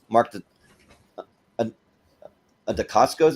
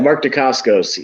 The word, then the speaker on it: Mark Dacascos: So with Mark Dacascos, is that how you say his name? I think that's how you say it. Mark Dacascos.